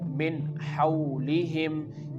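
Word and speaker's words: مِنْ حَوْلِهِمْ: Here, the meem is followed by noon and when we make the connection of meem with noon we have to pronounce it like min hawlihim.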